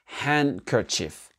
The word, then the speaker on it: handkerchief: Le mouchoir, tout simplement, ça se dit handkerchief. Handkerchief. Et là, vous remarquez quoi? Que le D n'est pas prononcé dans ce mot-là. D'accord? Pas handkerchief, handkerchief. Handkerchief.